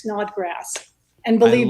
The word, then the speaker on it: Snodgrass: for me one time it's literally just like it sounds it's Snodgrass and believe I like